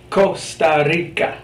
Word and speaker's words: Costa Rica: Costa Rica, the hard K. Well, that's the case if it comes before ca, co, or cu.